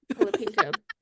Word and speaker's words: Colapinto: Colapinto.